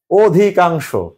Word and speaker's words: অধিকাংশ: অধিকাংশ, এখানে ছিল অ, এখানে কি উচ্চারণ হয়েছে? অধিকাংশ।